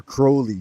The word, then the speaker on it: Crowley: yes Alias Crowley right say his name like he meant it to be said that's how he said his name should said I am Alias Crowley just like holy I am a living